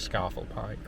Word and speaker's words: Scafell Pike: Or some people pronounce it scaffold Pike, but I think it's a bath bath scenario. So, Scaffle Pike for me.